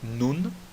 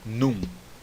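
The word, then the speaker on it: נון: E, mais uma vez, notem que eu disse nun e não num. Tá bom? Nun. Pronuncie aquele N. Termine a pronúncia da letra nun com a sua língua em cima na boca, fazendo aquele som do N.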